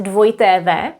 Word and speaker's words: dvojité v: In Czech, it's dvojité v. If you want to emphasize that something is spelled with dvojité v, w.